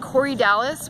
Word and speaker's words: Corydalis: CEO do n IPS is yep ok and corydalis which is cor why da lis we don't